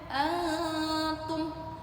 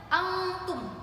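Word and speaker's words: أنتم: Jadi bacanya antum. Jangan sampai kita bacanya antum, itu sudah berbeda.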